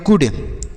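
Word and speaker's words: could: आई go there आगे सी ओ यू एल डी इसे हम पढ़ेंगे कुड क्या पढ़ेंगे कुड कुड नहीं पढ़ेंगे कुड यहां पर यल साइलेंट होता है तो इसे पढ़ेंगे कुड कुड का अर्थ हो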